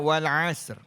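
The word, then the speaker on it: والعصر: Bacanya wal asr.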